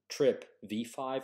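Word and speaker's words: TRPV5: the vanaloid subfamily trpv these two channels are pronounced trip v5 and trip v6 now remember with magnesium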